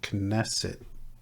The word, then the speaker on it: Knesset: K Knesset. Maybe it's Knesset. I'm gonna have to, or Knesset. K is silent.